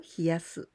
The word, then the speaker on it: 冷やす: So in this case, we use the same kanji, but here we pronounce hieru or hiyasu.